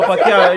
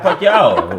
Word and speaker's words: Pacquiao: They going to kill you in the comments with that pronunciation, but don't know Pacquiao. Just Pacquiao.